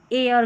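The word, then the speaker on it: heir: H silent रहता है। Honest our और यहां पर एयर करके पढ़ेंगे। यहां पर हेयर नहीं एयर करके पढ़ेंगे।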